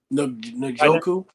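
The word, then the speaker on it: Njoku: do you how do you say it David nooku nooku nooku could be be a guy that really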